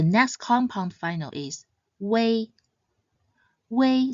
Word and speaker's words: ui: Wei sounds similar to the word way. Just remember to pronounce it short and quick. Wei, Wei.